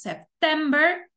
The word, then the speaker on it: September: primera en inglés aost y qué pasa con septiembre octubre noviembre y diciembre van a acentuadas en la segunda sílaba decimos september october November and december Okay entonces septiembre octubre